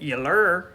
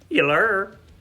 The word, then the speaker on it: Yllur: And then after Gold, track 8 is, I keep on saying it, Yllur. It's spelled Y-L-U-R, but I have to say it kind of like that Tyler Perry Medea, Yllur.